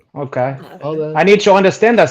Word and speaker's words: hade: Hade. Hade. Okay. Hade. I need to understand that stuff because when I see these Scandinavian chicks on Hunyan Canyon and stuff, I'm gonna be like, Hade.